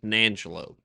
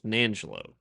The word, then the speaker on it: San Angelo: did Yeah, we went to let me pronounce it properly because I was born there. It's Nangelo. Yes. Yeah. If anybody says San Angelo, it's either Angelo or Nangelo.